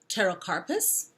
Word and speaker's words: pterocarpus: to make later on the next one starts with the letter P but it's pronounced pterocarpus okay so this uses